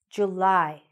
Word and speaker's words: July: July. July. Where do you hear the stress? Is it at the beginning or is it at the end? It's a little bit more at the end, right? July.